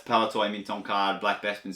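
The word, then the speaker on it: Palitoy: a 45 back C paltoy. I can't remember. Um Lester Kovville Lester told you whoever told me saying it was wrong. I'd say it right next time. So that's palatoy mint on card.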